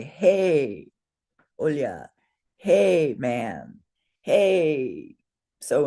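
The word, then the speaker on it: हे: A gona has is always two beats and this letter would be pronounced hey. I mean this word hey.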